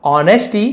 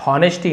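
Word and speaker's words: honesty: तो होनेस्टी नहीं इसे ऑनेस्टी पढ़ा जाता है।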